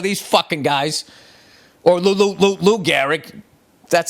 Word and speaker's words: Gehrig: That's when they had Babe Ruth, Lou Gehrig, and all of these fucking guys, or Lou Gehrig. That's how you pronounce it.